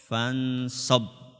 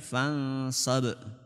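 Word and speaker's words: فانصب: faidza faragta fansob shob itu dipantulkan kalau enggak dipantulkan bacanya gimana fansob itu kalau engak dipantulkan kalau dipantulkan fansab nah huruf gain itu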